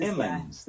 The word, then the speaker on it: Emmons: It's not Edmonds. It's pronounced the letter M. CJ Emmons. I love this guy.